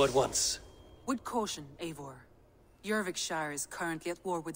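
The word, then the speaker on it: Jorvikshire: i will go at once with caution avor jurvikshire is currently at war with depicts a proud clan that lives just beyond the roman wall jurvik shire that's how they pronounce it you're rick shire okay i have to remember that more intel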